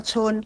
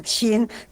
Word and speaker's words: 亲: 亲啊，这个亲伫遮是捷运，伊原底念作春啊，但是伫遮爱念作亲。